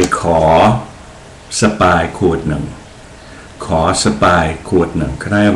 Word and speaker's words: Spy: The way the Thais pronounce it is Sapai, Sapai.